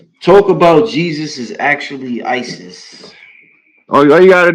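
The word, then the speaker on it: Iesous: in the Greek pronunciation the capital I automatically silences the E goes hard on the S silences the O go hard on the US it's Isis one language back that's all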